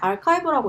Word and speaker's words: arXiv: 그리고 프리프린트는 뭐냐면 뭐 ARXIV 이걸 그냥 아카이브라고 읽더라고요.